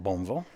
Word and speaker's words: Bowmanville: when we settled in Bowmanville which is pronounced boneville and she became a